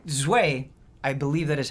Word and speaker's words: Zwei: I mean that's Zwei. That's the Zwei? That's Zwei. German for two. Zwei? Zwei. Okay. Well, I didn't know that. Yeah. Zweihander. Zwei. The Evil Within Yeah, was Zwei.